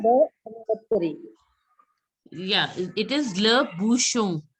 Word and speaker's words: bouchon: N is not to be pronounced. Just a second. I've told you, the last word is not pronounced. The last letter is generally not pronounced in French. So you have to pronounce till bouchon. And it's a nasal sound. So it is le bouchon.